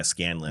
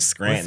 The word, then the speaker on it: Scanlan: The characters, especially with I keep saying his name wrong. Scanlan. Yeah, Scanlan. Yeah. I don't want to keep saying Scranton.